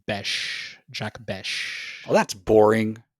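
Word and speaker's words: Bech: I was on the Raiders Reddit thread, and it is pronounced Besh. Jack Besh. Oh, that's boring. Yeah, I'm just going to call him Besh.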